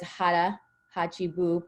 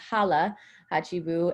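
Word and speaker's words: hara hachi bu: mantra in okinawa and i know it says hara hachibu but it's actually pronounced hala hachibu and this is a confucius mantra that um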